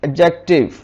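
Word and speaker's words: adjective: इसी तरह यह लिखती इन इसे हम पढ़ेंगे एडजेक्टिव यहां पर भी दी साइलेंट हो गया फादर फेस वायर अगर एल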